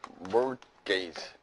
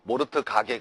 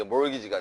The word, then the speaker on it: mortgage: 이건 뭐냐면 mortgage. T가 묵음이에요. T가. 알겠죠? 모르트 가게 그러지 말고, 알겠어요, 여러분? 그래서 이게 mortgage가 되는 겁니다.